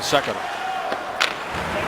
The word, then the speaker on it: Sekera: I said, how do you pronounce it in your house? He said, Sekera. So we'll go with that.